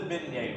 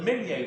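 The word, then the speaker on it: Minié: So it's not the Minier round. If you're an English speaker, it's the mini round, or the mini ball. I don't know why they call it mini ball.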